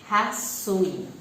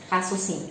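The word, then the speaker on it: הסוסים: En hebreo es Sha'ar Hasuim. ¿Sí? Hasusim sería. Significa.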